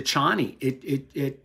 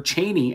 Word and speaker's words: Chani: The compression of the timeline also did the same thing to Chani. Or Chaney, actually, is how Frank Herbert pronounced it, as it turns out, because I did a little research on that.